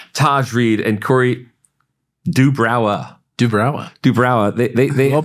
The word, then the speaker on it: duBrowa: duBrowa. They Well pronounced, sir. They gave me the. Did they give you some weird phonetic thing? No, they gave me the phonetic spelling of it. duBrowa.